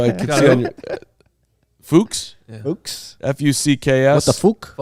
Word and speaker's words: Fuchs: Fuchs? Yeah. Fuchs? F-U-C-K-S. What the Fuchs? You would think It's Fuchs. You would think it's... It says on the website, it is pronounced like books.